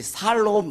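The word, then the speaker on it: שלום: 샬롬. 예, 우리 옆에서 샬롬. 여러분 평안하십시오. 평강을 빕니다. 예, 늘 발음을 잘해야지 샬롬이 돼. 살롬 그렇게 돼. 그것도 괜찮아요.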